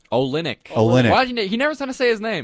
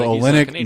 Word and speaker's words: Olynyk: Iguodala we have how you say Olsen ik Olynyk : I never I always forget how to say his name so Olynyk Meyers Leonard so they have some height they